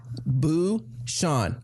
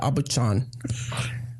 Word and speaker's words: Aubuchon: Abu-Shan. Abu-Shan. Nice. How do you spell it? Aubuchon. Huh. I don't know what I would have I'm said. glad he did, because I would have said Abu-Chan.